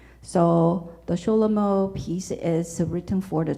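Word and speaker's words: Schelomo: but most famous piece is the chulomo that is actually um Jewish pronunciation of the King Solomon so the sholomo peace is written for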